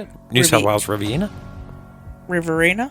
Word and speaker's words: Riverina: Riverina? Riverina, my bad.